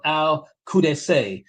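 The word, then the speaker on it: al-Qadisiyyah: The battle of Al Cures. That's spelled Q A D I S I Y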